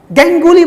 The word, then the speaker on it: गांगुली: Cricket बोला करते थे, गैंगुली बोला। अब बताइए, अब सौरभ गांगुली को गैंगुली बोला जाए?